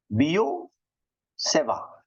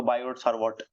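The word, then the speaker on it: Biot–Savart: magnetism की क्या मैग्निटिया बियो सेवा ठीक है ना ये टी साइलेंट है और इधर भी टी साइलेंट है फ्रेंच प्रोनाउंस में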